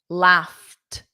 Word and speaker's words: laughed: Laughed. That's it. But I have waited. It adds an extra sound when I add weighted and there's an ed at the end. So yeah, laughed is t called friend.